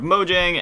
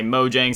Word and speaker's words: Mojang: Minecraft creator, co-founder of Mojang. And then we got if some people pronounce it differently. Some people say Mojang, some people say Mojang. I've always just said Mojang.